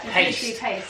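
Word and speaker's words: Payst: Oh, which is I I couldn't pronounce it for a long time. Yeah. Paste.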